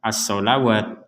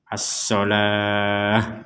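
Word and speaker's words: الصلاة: Jadi di sini jangan dibaca as-sholawat. Nah, walaupun tulisannya di sini ada huruf waw, ini masuknya kepada ilmu penulisan ayat Al-Quran. Tapi cara membacanya tetap as-sholah, begitu.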